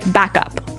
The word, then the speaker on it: backup: point out that here the pronunciation and stress of this phrase is really important hey yes yes you have to say backup Backup backup yeah so both words are stressed at about the same level hey mhm backup cuz